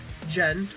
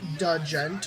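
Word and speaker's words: djent: Next up, we have progressive metalcore / gent or da gent, whether or not you pronounce it either way, or whether or not you're a Stevie T fan.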